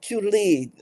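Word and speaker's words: Joole: J o o l e how is that pronounced oh Julie a group of entrepreneurial women from India that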